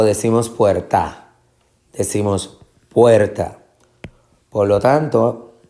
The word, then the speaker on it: puerta: Decimos puerta o decimos puerta.